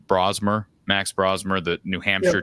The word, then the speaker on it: Brosmer: And when this game fell on the schedule, I believe it's pronounced Brosmer, Max Brosmer, the New Hampshire transfer.